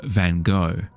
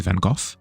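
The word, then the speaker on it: Van Gogh: Where a lot of people were referring to him as um uh Van Go. And uh then people have since come along and said, "No, no, no, no, no." Like via the correct pronunciation, it's actually Van Go.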